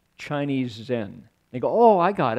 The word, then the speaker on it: Zen: it Zen zenim and Zen is the Japanese pronunciation of this word chan so people go oh